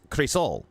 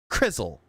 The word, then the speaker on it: Crisol: It's Crisol. Like, you know, Cree and then Soul. That's what that is. It's supposed to be that way, but he pronounces it like chisel, Crizzle.